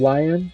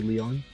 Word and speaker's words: Lion: like Marty mlly so people call him lion because it's spelled that way but but you know he's French so you know it's supposed to be Leon yeah when I was